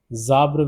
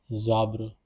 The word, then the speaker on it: ces arbres: Zabre will be the pronunciation over here because s will get connected with the j, so the pronunciation will be zabre.